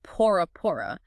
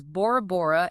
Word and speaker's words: Bora Bora: The real deal, the Tahitian name is Pora Pora, means firstborn. But, those European explorers with their shitty ears and even worse pronunciation heard it as Bora Bora and boom, the name stuck.